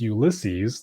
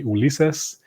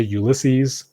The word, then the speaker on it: Ulysses: If you're Spanish, you might say Ulises. I usually just say Ulysses.